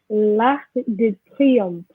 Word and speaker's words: Arc de Triomphe: L'Arc de Triomphe. What about you, Rihanna? L'Arc du Triomphe. Très bien. So here we have a C, but we have to pronounce it. Okay, we have l'Arc de Triomphe.